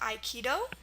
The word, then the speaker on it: aikido: Most of the time in Japanese, spelled with an AI. Example words we have are aikido, which is at the beginning of the word, aikido.